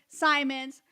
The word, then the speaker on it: Simonds: have Simons just like diamonds because I always pronounce